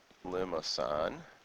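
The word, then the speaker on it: limaçon: is called a Lian it's got a soft c um limasan that is a soft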